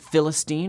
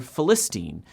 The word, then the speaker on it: Philistine: And was it Philistine or Philistine or something else entirely?